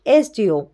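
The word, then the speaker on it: SDO: তো নেক্সট দেখো 13 number, she is dash এসডিও। তো এখানে দেখো এসডিও, তাহলে আমরা জানি যে কনসোন্যান্ট, এসটা কনসোন্যান্ট, কিন্তু এখানে দেখো এসের উচ্চারণ কিন্তু কনসোন্যান্ট হিসেবে হচ্ছে না, এখানে কিন্তু ভাওয়েল হিসেবে হচ্ছে, তাহলে এসডিও, তাহলে এখানে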